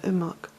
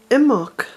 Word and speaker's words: Imbolc: It's 8:30 here at Bealtaine Cottage in the west of Ireland, and driving back from Enniskillen this evening I was thinking about Imbolc and how close we are to the festival.